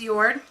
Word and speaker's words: JORD: I know it sounds like I'm saying it wrong, guys, but I swear it's pronounced JORD.